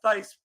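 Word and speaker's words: Thaiss: And then uh an interesting guy um a backup or um you know every other day catcher Matt Thice pronounced Thice spelled T H A I SS.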